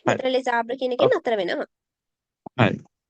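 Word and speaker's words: les arbres: liaison එකක් කියලා කියන්නේ අපි මේ දෙකට එකතු කරලා කියනවා. right? le abra කියලා තනි වචනයක් නෙවෙයි. අපි මේ දෙන්න එකට එකතු කරලා pronounce කරනවා. එකට එකතු කරලා pronounce කරොත් මේක කියවෙන්නේ les abra කියලා.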